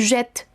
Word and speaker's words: jette: Entonces, esta sonará fuerte, la T, je jette, ¿ok? No estoy pronunciando la E del final, sino el sonido per se de la T. En la persona tu será lo mismo. Tu jettes la poubelle. Il jette la poubelle.